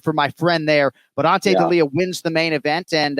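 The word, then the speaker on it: Ante Delija: It was Ante D'Elia. Am I pronouncing that right?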